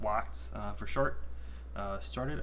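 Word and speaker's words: LOX: lock um uh liquid oxygen uh which is pronounced locked uh for short uh started i think they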